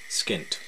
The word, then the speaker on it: skint: informal descriptions do utter the second of the following two descriptions rhymes with hint Stony Brook skint softly gently I matter